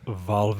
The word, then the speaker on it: Valve: It's pronounced Valve.